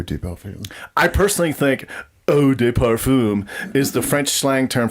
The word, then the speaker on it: Eau de Parfum: And then it's Eau de Parfum. But honestly, Oh, deep film. I personally think Eau de Parfum is the French slang term for farting in an elevator.